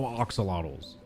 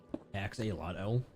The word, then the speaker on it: axolotl: They allow Oxalotls. You understand the need to protect IP, but DMCA is created by old people? Yeah. Why do you say it with an O?